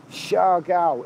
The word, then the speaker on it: Siargao: Okay, Barry from EastEnders, it's pronounced Siargao in the Philippines.